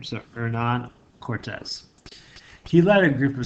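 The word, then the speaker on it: Hernán Cortés: in Spanish you out don't pronounce the h kind of beginning of name so Nan Cortez he led a group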